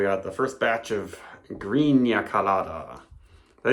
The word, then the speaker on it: Greena: Hello, we got the first batch of Greena Colada. I didn't put the accent over the N, but I'm going to say it like Greena.